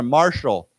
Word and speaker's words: martial: we use of course the t is pronounced with a s sound like a sh sound so we say Marshall why don't we say together Marshall Marshall so marshal law